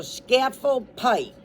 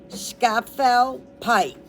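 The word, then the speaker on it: Scafell Pike: So it's S C like cat A like apple and then fell like you fell down. So scaffold pike quote unquote.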